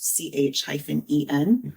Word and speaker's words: Chayn: On their website, they say it's CH-EN is the pronunciation. So I'm assuming that's Chen.